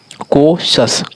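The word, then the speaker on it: cautious: कौशल को सन कोशस कोशस ठीक है?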